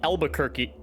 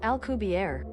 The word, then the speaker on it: Alcubierre: In the Wikipedia here, it says it uses the Albuquerque... No, that's not it. Alcubierre? Hold on. Alright, let's see how Google here says to pronounce this. Alcubierre.